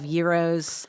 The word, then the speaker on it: gyros: so get there early you're going to have euros and am I saying it correctly you are